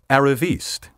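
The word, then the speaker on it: arriviste: another useful term for this sort of person aravist spelled a-r-r-i-v-i-s-t-e as you may have deduced from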